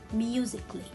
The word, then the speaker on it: musically: i will not read it it is a silent letter so here it will be musically and here how can i read this word